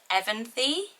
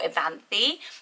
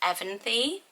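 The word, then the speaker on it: Evanthe: few pronunciations and it's Evanthy. So Evan as in like the surname Evan or the boy name Evan, and then Thee at the end. So I was saying more Evanthy, but it's Evanthy, which I really like.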